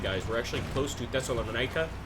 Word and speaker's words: Thessalonica: We're actually close to Thessalonica, and that is the way you pronounce that, Thessalonica. I've lived in a Greek neighborhood long enough to know. Or Thessalonica, perhaps.